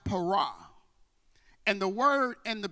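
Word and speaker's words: פרע: unrestrained the Hebrew word y'all perish it is pronounced Parag and the word and the biblical proverb speaks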